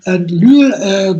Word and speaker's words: Lüül: How you pronounce it, Lüül in German? Lüül, it's quite well. I know it's unusual because it's a U with the 2 points, and it's Lüül.